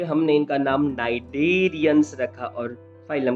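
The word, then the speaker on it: Cnidaria: अगर हम बात करें तो जैसे मैंने आपको बताया था, name नाइडेरिया is derived from the cnidoblast या नाइडोसाइट्स। यहाँ पर सी साइलेंट रहेगा, और ये कहाँ प्रेजेंट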